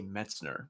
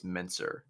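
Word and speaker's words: Mentzer: I always say Metzner, but I think it's Menzer.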